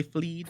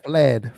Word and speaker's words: fled: That is definitely possible, GMS, because they fleed. Is that how you say it? They fleed. Fled. Oh, so she left.